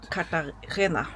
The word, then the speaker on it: Cartagena: I'm not sure how to pronounce it. Cartagena.